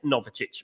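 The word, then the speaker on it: Novičić: Dan Sinate and Novicic, Vasilije Novicic, by the way, that's how you say it.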